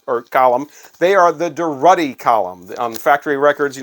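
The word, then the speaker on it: Durutti Column: sandpaper album cover from the deruddy column not the derudi column now here's one that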